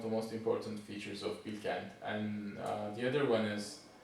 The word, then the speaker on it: Bilkent: It's Bilkent. It's in Ankara. And what makes that university prestigious? Spell that name again. Bilkent. Bilkent.